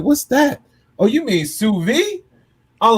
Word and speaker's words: sous vide: SOUSVIDE. So I'm but it's, I believe it's French. Don't really? On that, but something like that. So it's pronounced sous vide.